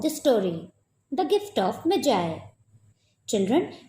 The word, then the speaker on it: Magi: Children, remember that this word Magi will be pronounced as Magi. Magi. Because it is a biblical word, so it will be pronounced as Magi. It will be wrong if you pronounce this word as Maggie.